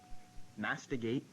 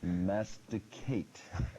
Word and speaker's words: masticate: Mastigate. Masticate. Judges. The judges have indicated that it is incorrect. Incorrectly pronounced. It was masticate.